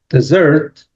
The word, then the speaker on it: dessert: So we have, as I said, dessert, which is the second, the stress is on the second syllable, dessert, whereas desert means, that area like Saudi Arabia has a lot of deserts.